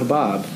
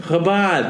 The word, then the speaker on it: Chabad: Chabad. With a D at the end. Habad. Yeah, they say no, and then they talk about Habab.